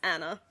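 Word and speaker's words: Ana: It is pronounced Anna. It is? Yeah. It just took me 3 YouTube videos, but it's pronounced Anna. Whoops. I think I've watched far too much Frozen. Literally. Yeah. Fuck it, I'm sticking with my pronunciation. It is A-N-A though. Yes, it's A-N-A.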